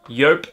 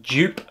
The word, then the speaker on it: Joop: quickly with you guys it is pronounced yope not jup although if somebody actually